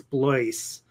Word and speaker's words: Blois: So I have a friend whose name is Blois, and nobody can pronounce his name properly the first time. And I've known people who have known Blois for many, many years, and still can't pronounce his name for whatever reason.